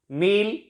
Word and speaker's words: kneel: So we can say that K is silent before N in most of the words.